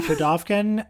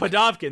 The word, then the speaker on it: Pudovkin: Pudovkin, I think. Pudovkin, there you go.